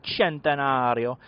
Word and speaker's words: Centenario: motorcycle is special because it is the centenario or the centenario uh Livery so that is how you say it in Italian that is exactly how